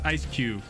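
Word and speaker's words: Eiscue: It's just SQ from, is it SQ? Ice Q. It's just Ice Q from Pokemon. I always read it SQ in my head.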